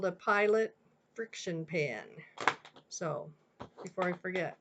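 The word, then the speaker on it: FriXion: is what I use and it's called a friction pen this one happens to be a pilot friction and it's like Fri x i o n but it's pronounced friction it actually has an eraser on the end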